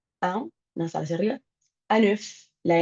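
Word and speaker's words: œuf: Anuf, la n se pronuncia igual porque es que an y eso anf an.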